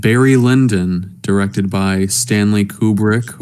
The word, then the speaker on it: Kubrick: Last time I recommended a movie called Barry Lyndon, directed by Stanley Kubrick, or as the Brits would pronounce it, and as my friend Chris would pronounce it, Kubrick.